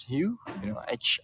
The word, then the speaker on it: Hieu: And if you are new to the tour, and my name is Hugh, Hieu, so you can pronounce it like huge, like Hugh Jackman, or maybe healing, like that, or like huge, like big.